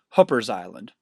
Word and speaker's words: Hooper's Island: title guts down to Hooper's Island or as the locals pronounce it hoppers Island the area is named